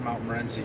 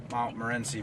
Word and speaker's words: Morenci: I think you pronounce it Mount Morenci, Michigan.